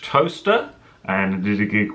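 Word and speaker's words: Towcester: It's spelt like this, editing for David, but it's pronounced Toaster.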